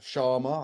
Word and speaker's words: Chama: We're here to chat about the new album uh Sharma. I believe that's how it's pronounced.